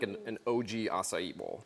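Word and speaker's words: açaí: was kind of concerned about the word aai asai what is the correct way to say it and it I pronounce it right yeah totally so assai is actually from South America it's a little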